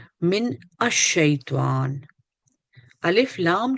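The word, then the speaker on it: الشيطان: शैतान आया है वो लाम जो है वो ड्रॉप हो जाता है क्योंकि आगे शीन है और यह रूफे शमसी ये मुख्तलिफ हुरूफ है जिससे पहले लफ्ज जो है वो हर्फ जो है वो साइलेंट हो जाता है सो शैतान पे शद लगी हुई है अ शैतान अजु बिल्ला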